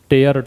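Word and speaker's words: tear: टेयर पढ़ोगे तभी फाड़ना होगा। अगर इसको टीयर पढ़ लोगे, देखो बता देता हूं, इसको पढ़ लोगे टेयर, तभी इसका मतलब है फाड़ना और ये क्रिया बन जाती है। अगर इसको आपने पढ़ लिया टीयर, तो फिर इसका मतलब है आंसू, ठीक है, और ये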